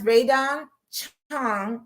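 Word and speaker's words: Rae Dawn Chong: And that's Raydon Chong.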